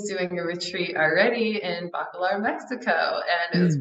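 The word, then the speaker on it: Bacalar: healing and wellness retreat in how do you pronounce that that's bakalar yeah bakalar Mexico Mexico near Tallulah yes right right near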